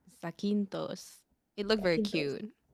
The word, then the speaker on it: Zakynthos: How do you pronounce that place? Sequintos. Zakynthos.